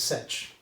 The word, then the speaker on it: sech: Yeah, everyone says coth, everyone I think says cosech or cosech, okay, and everyone says sech, okay.